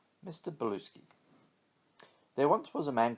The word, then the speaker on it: Bluesky: too scared to break the news to Professor Bluesky, so he sends one of his assistants instead. Make sure you get his name right, he tells the young woman called Trudy. It's not pronounced Blue Sky, it's Bluesky.